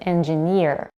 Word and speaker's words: engineer: When the suffix "ear" is added, primary stress shifts to the suffix itself. For instance, engine and engineer.